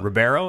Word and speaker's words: Ribeiro: I'm gonna pronounce some. How do you say his last name? Alfonso Ribeiro. Ribeiro.